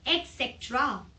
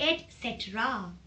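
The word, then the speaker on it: et cetera: gonna teach you people pronounce this ईटीसी एज एक्सटरा there is nothing called एक्सेट्रा that is एट सेरा एट सेट रा come on improve your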